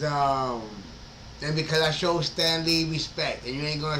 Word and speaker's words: Stan Lee: that Stanley but um no it's Stan Lee but yeah the way that he pronounced it was Stanley I'm like Stanley who the is Stanley like Stanley that's one word Stanley there the big difference was Stanley and Stan Le you know what I